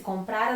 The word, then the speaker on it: comprara: Esse comprara não tem acento nenhum e a sílaba tônica é o pra, ok? Se a gente colocar um acento aqui, vai ficar comprará, aí é futuro. Sem acento, é pretérito mais que perfeito.